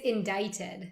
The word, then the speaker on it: indicted: It's indicted. Indicted. Okay. Yeah. I would No, write the- this completely different. the Like maybe C with is like silent.